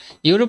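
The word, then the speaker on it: Europe: কিতা, Asia, Africa, ইউরোপ, ইউরোপ কিতা দিয়ে শুরু রে, ইউ আর ও পি ই, ইউরোপ কিতা দিয়ে শুরু হয়, কিতা কিতা দিয়ে শুরু হয়, ইউরোপ, উচ্চারণটা কিতা আইছে ইউ, ইউ কেমনে রস্বই, রস্বই,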